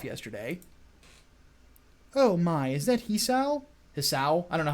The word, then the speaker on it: Hisao: Oh my, is that Hisao? Hisao? I don't know how it's pronounced. I didn't realize you were here. It is Hisao, by the way.